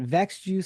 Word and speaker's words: Växjö: Speaking of places and locations, how crazy is the music world that a guy from I think Youngstown, Ohio, and Växjö, Sweden.